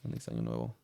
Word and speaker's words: Feliz Año Nuevo: Yes, Feliz Año Nuevo.